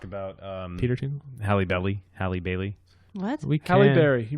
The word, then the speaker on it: Halle Bailey: we're gonna talk about Peter to Halle belly Halle Bailey that's we Calipari he mispronounced it Hallie Bailey no this was off mic a couple of